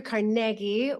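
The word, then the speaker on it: Carnegie: just real brief history Andrew carnegi was born in Scotland that's why I'm pronouncing his name carnegi um in 1835 uh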